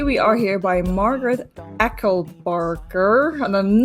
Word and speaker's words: Echelbarger: surprising but today we are here by margaret ecklebarker and i'm not pronouncing that correctly by any stretch to the